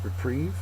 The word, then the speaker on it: reprieve: up 19 uh is reprieve and there's actually two different forms so there's two different pictures uh reprieve is a noun it's also a verb second syllable is accented uh a reprieve excuse